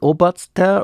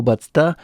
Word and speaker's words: Obatzda: Anyway, so you pronounce it Obatzter or Obatzta, Obatzta, and the word derives from